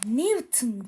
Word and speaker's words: Newton: Bu Newton diye okunur ama pardon yazılır ama sakın Newton diye okumayın. Newton diye okunur.